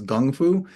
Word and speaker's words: kung fu: And chiang is basically so um if you think of you know going back to to kung fu another way to pronounce kung fu is gung fu um and gung just means work um you know and so with with kung fu fu means achievement.